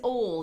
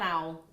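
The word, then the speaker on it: awl: this wrong it's an all isn't it yeah yeah not an owl an all an all I called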